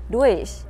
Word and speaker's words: durch: về phát âm thì có nhiều bạn mình nghe hay đọc là durch, durch, durch. Nói chung là sai hết nha các bạn. Các bạn hiểu đơn giản là giống như là đuôi thêm chờ vậy.